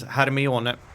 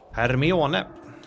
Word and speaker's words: Hermione: But the way you would pronounce it here in Sweden is Hermione, which is kind of silly. Hermione.